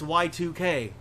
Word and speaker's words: YIIK: So I was like YIIK or Yeah, Yeek. it even looks like it. But then it's also like, oh, it's Y2K.